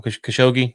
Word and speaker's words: Khashoggi: and I'm going to get this poor guy's name wrong. Khashoggi, I think is how you say it. Khashoggi, I got it right.